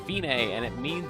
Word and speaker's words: Fine: and Forte means loud it looks like fine but it's pronounced femaie and it means it's the end the finish